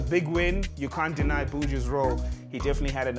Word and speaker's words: Buju: I think you still pronounce it as Buju though.